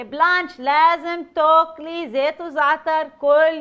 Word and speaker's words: Blanche: Hey everyone, I'm Blanche. That's pronounced the French way, as in carte blanche.